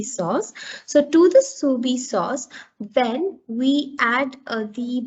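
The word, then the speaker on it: Soubise: soupy sauce we pronounce it as how we pronounce it as soo b sauce so to the subi sauce then we add the vegetable sauce to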